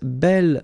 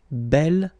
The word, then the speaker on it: bel: have to put this belle form instead of beau. Okay, remember you pronounce it belle, so like the feminine version, but then you write it B-E-L.